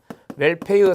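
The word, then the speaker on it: Wolpe: 웰페의 상호재지 이론이에요. 상호재지 이론의 학자는 웰페 또는 울피라고도 합니다. 발음에 따라서 웰페로 이제 이야기하는 사람도 있고 울피라고 이야기하는 사람도 있으니까 같이 써드렸습니다.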